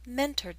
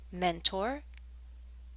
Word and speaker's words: mentor: in the past I mentored someone. And if you listened closely, you might have heard a change in my pronunciation. That's because in American English, this word has two acceptable pronunciations: mentor, mentor.